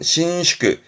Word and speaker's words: 伸縮: 발음은 신슈크, 신슈크.